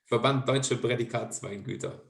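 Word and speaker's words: Verband Deutscher Prädikatsweingüter: you have to help me this with the pronunciation of the shortcut. What do you mean of What? the VDP? VDP. The Verband Deutsche Prädikatsweingüter.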